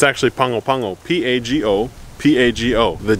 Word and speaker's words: Pago Pago: Anyway, so the G in Samoan is an N-G sound, and the A is like Spanish, right?